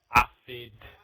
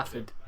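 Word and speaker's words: Aphid: But yeah, all I can say is the newcomer, Afid F1. If I've said his name Acid or right. acid? Acid. Afid. Acid. A-P-H-I-D. Yeah. Yeah. Yeah, not acid, Michael.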